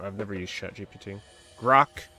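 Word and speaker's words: Grok: Grock is the one I use. Plus, it rhymes with Brock, right?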